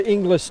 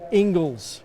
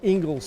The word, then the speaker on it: Engels: go back Jersey 29 we've been pronouncing his name or wrong so thank you for those people inside shield media it's spelt not how it sounds Engels Hugo Engels so we will get